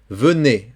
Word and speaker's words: venait: Donc, la joie venait. Attention ici, c'est un verbe, ce qui est un imparfait. A-I, c'est E. Et le T final ne se prononce pas.